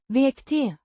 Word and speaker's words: växte: Pronounced vek-teh with the sounds similar to the a in father and a soft t sound at the end.